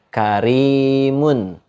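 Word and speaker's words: كريم: Contohnya dibaca karimun. Karimun. Nah, karimun itu dibaca tipis. Gitu, enggak dibaca tebal.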